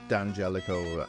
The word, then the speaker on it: D'Angelico: Yeah, the apostrophe is silent. So, people say, Diodario strings or Right, yeah. D'Angelico guitars or whatever. But it's all D'Angelico and Diodario.